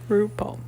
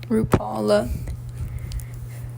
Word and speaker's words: RuPaul: RuPaul. RuPaul.